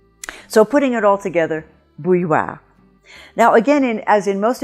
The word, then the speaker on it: bouilloire: Now, this word does have a little trick in it in that you have two semi-vowels coming together, the y and the w, and that's a little bit different than you usually find, but other than that, the